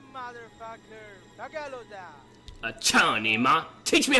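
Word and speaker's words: cao ni ma: No, Johnny, ma. You motherfucker. Back out of that. Cha-ni-ma. Teach me how to say it then, bruh. Teach me how to say it then. It's cha-ni-ma. C-A-O-N-I-M-A. Cha-ni-ma.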